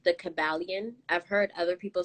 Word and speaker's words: Kybalion: think it's pronounced the kabalian i've heard other people say kaiba lion i think it's kabalyen but um it's a